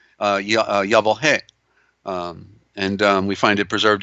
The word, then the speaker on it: Yahweh: of course is Yahoo they mispronounce this Yahweh in here in the Aramaic it is Allah Allah hey but but correctly it should be yah whoa hey and we find it